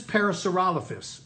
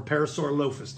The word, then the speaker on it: Parasaurolophus: This is Parasaurolophus or Parasaurolophus, depending on how you pronounce it.